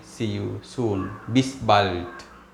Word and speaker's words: bald: see you soon, bis bald. Remember, when you have the letter D at the end of a verb, we pronounce it as T.